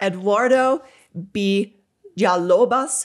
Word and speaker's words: Eduardo Villalobos: So I'm going to try my pronunciation, okay? Okay. Dr. Eduardo Villalobos.